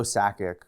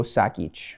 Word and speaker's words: Sakic: What I do know is I know Joe Sakic led like an Olympics in scoring.